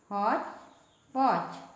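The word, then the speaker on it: hotchpotch: खिचड़ी, खिचड़ी को इंग्लिश में हॉच पॉच कहते हैं, हॉच पॉच। इसमें जो टी है साइलेंट है, ठीक है।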